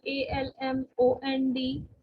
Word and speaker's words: almond: But again here, whenever it is AL, so L is silent in this word, and it is like salmon, salmon. Okay? L is silent, so it's salmon. And similarly, almond, almond, right?